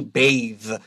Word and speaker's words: bathe: no e so baths a good way to remember this is to pick up your pencil and write a line over the a because this is a long a sound your noun would have the short a so you can draw the little v symbol above it long a bathe I like to personally